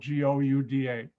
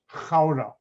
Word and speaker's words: Gouda: but sound pronounced gouda dutch pronounced their g differently because i know hebrew